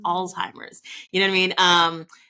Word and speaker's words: Alzheimer's: "Oh, she got that old timers," and you're like, first of all, that's not how you say it. It's Mm. Alzheimer's.